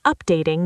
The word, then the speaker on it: updating: The software is updating now. Deep dive. Software, stress the soft. Updating, stress the day.